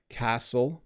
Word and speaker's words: castle: Yes, in some way, like knight, castle. So in the word knight, I don't say the K. Castle, you don't say the T.